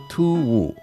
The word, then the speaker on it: 突兀: Hard to pronounce, isn't it? Just the tones. 突兀. This is abrupt. Abrupt. 突兀, abrupt.